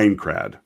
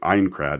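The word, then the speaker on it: Aincrad: that is i i incred sorry i kept saying it wrong ein crad is what what the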